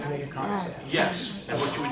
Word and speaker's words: codicil: long, something called a codicil. A codicil is a will-based word that means amendment. Can you spell that? What's that? Spell it, please. Cod like a codfish. Cod, I-C-I-L. C-O-D-I-C-I-L.